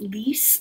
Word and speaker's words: Lise: And then Lise, I think it's pronounced Lise, L-I-S-E.